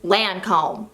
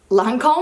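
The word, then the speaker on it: Lancôme: monthly favorite is the i never know how to say this correctly lancome i want us the like redneck in me wants to be like lancome but lancome i think is how you actually say it it's this c-i-l-s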